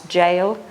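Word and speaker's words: gaol: This is an old-fashioned, unusual spelling of the word we pronounce jail.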